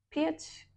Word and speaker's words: Piat: difíceis que é Fiat piat aqui ó se escreve p a t Então deve se pronunciar da mesma forma que Fiat né Padre Fiat ele